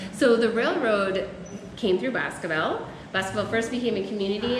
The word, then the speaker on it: Boscobel: Boscobel, there we go.